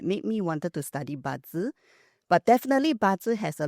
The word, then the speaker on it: Bazi: They understand what Feng Shui is, but Bazi. Am I pronouncing it right? Correct, it's Bazi.